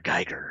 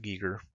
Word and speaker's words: Giger: those people unfortunately that's not the way you pronounce name when I was growing up I loved H R Giger o H R Giger then then I was